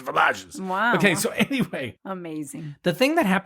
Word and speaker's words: Villages: boet and boet Villages it looks like Villages well it it is Villages but in French it's vages wow okay so anyway